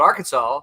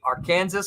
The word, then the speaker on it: Arkansas: the river there but because it was spelled like Kansas the debate was in the Arkansas legislature as to whether you say AR Kansas or Arkansas Arkansas clearly one yeah he says followup